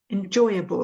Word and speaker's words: enjoyable: So where's the stress on this word here? Is it on the first or the second syllable? Second one. Happy with that? Yeah? Second? Okay. What about in this word? Is it the same or is it different? The same. It's the same, yeah. Enjoy, enjoyable. Enjoyable. It's the same stress syllable, absolutely.